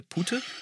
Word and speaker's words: Putte: Den Franzosen muss ich erklären, dass eine Putte, auf Deutsch ausgesprochen, also mit U, ein weiblicher Truthahn ist.